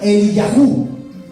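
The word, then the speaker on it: אליהו: mi nombre es en hebreo se pronuncia el yajú Y saben lo que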